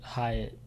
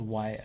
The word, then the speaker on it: Hyatt: I always forget his first name, but Hyatt. Was it Jalen Hyatt? Jay. I always want to say his name's Wyatt. I don't know why. Jalen Hyatt. It rhymes with.